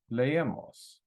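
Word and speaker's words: leemos: is we read so we have three syllables lay and Moss okay according to the rule ends in a vowel NRS stress is on the second to last syllable great Lemos that's good the way it is we don't need to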